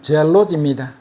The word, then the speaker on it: 젤롯: 셀롯 정확한 발음으로는 젤롯입니다.